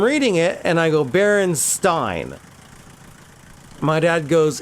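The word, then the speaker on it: Berenstain: I know those bears are named Baronstein or Baronstein, not Baron Stain.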